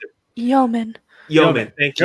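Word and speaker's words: Yomen: that he still has so much reverence for Human, right? Isn't that the guy? Human, is that say? I can't remember how to pronounce it. Yeoman. Thank you. Yeoman, Anyway, okay.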